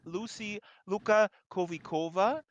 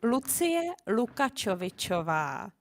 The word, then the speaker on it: Lucie Lukačovičová: Next to Peter is Lucy Luka Kovikova. And Lucy, I hope I pronounced your name correct. Is that right? No, you didn't. Oh my God, please correct me. It's Lucie Lukačovičová, but never mind.